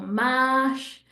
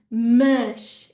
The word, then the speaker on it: mas: Everybody wants to say mais or mash with like an open sound, but no, we want a mush. It's that closed A that we were talking about earlier, right? Mush, mush, okay?